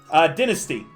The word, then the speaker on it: dynasty: I'm Canadian, meaning that we use British English, so it's dynasty, not dynasty.